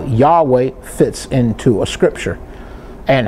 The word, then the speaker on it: Yahweh: replaced by something else perhaps it would have been replaced by jehovah but that would have been expressed at least in jehovah but it's more expressed more correctly as yahweh now we must turn